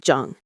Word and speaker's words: Jeong: They practice a concept called Jeong— pronounced like “Jong.”